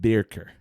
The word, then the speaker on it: Birkir: So I believe it's pronounced Birker. Yeah, in English terms, that's how you would say it. Sure. Yeah. Birkar. Kaar. What? Try that again. I said. Yeah. Birkir.